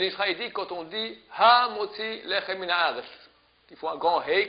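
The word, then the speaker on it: המוציא לחם מן הארץ: Ha Motzi Lechem, Lechem finit avec M. Min haaretz, il y a un deuxième M. Il faut bien les prononcer des deux. Hamotzi lechem min haaretz. Je dis 2 fois M. Pas dire hamotzi lechem min haaretz. On fait la liaison et c'est comme s'il y a un seul M.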